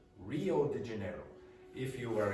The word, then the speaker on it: Rio: Portuguese speakers have problems with R when it's at the start of words because they have a different sound in Portuguese.